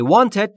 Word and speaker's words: want: و در مورد تلفظ W در want لبهاتون باید حالت بوسه یا لولهی باشه. هوا خارج میشه. میشه want.